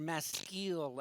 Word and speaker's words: maskil: It says a maskil, or a maskil, actually is how you say it, but I'm not going to say it that way, of Asaph.